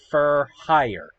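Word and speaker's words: Fur Hire: their their TCG name, their English name is Fur Higher. A pun like for higher, but instead of four, it's fur.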